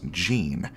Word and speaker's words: Jean: nugget to mention but my name is pronounced Jean like the pants it's not the correct way to say my name but it's been this way for years so lean mean Jean does Rhyme I don't know why